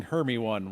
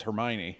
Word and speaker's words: Hermione: how to say it it's like saying herme one when it's hermione hermie one i